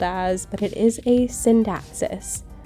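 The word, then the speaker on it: Scindapsus: but it is a synapsis not a SK dapsis a synapsis um C's in Latin are usually pronounced as s's so you kind of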